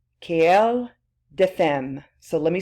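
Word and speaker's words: querelle des femmes: Another way of saying this new debate, it's the woman question, or the French way of saying that, quelle de femme.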